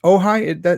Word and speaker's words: Ojai: Is it Ojai? Is that the right pronunciation? That's always the first question of each podcast. And yes, you got it right. Not everyone does, but you did it.